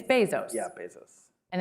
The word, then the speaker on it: Bezos: I I I I I spent months saying Bezos and people still get it wrong it's Bezos yeah Bezos and it's